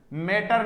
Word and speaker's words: mater: I have started teaching at my Elma माटर। मैटर मत बोलना, मैटर होते ही तो ये वाला स्पेलिंग आएगा। MATER ये माटर है और MATTER, दोनों वर्ड को अच्छे से देखिएगा, दोनों में क्या अंतर है।